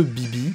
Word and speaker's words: BB: Mais je vais pencher, personnellement, vers celui qui est le plus logique, à savoir Balloon Boy ou BB (prononcé à l'anglaise) pour les intimes.